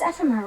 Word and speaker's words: Ephemer: Your name is Ephemer, right? Uh-huh. Hey, can I join you? Uh-huh. So that's how you pronounce his name.